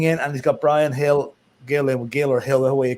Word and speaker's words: Gil: So I think you can go with Gill. They pronounce G as a H in some names. But anyway. Yeah, I think you can go with Hill, but it doesn't really.